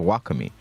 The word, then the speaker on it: Lakomy: He said it actually should be pronounced Lakomy.